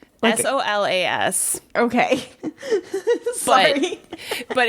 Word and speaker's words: Solas: you say his name was Soulless? Solus. Yeah. Wait, Soul, like Solas.